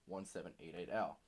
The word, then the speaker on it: 1788-L: sounds like 1788 now or as you he would like you to pronounce his name 1 7 8 8 al this is an example